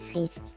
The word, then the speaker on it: Frisk: Alors, tu vas pas me le prononcer à l'anglaise. Du coup, on va l'écrire comme ça pour que tu le prononces à la française, s'il te plaît. Je m'appelle Frisk. Voilà, c'est mieux.